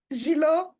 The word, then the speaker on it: Gilot: Gilot. That's my last name. Oh, how do you say it? Gilo? Gilo? Yes.